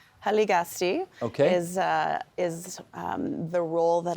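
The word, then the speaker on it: Hiligaxste': And again, you're going to forgive my probably bad pronunciation here. Hiligakste? Haligasti okay.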